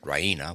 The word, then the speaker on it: Raina: full of good news Rena she pronounces it Rena with the stress on the E Rena she goes to the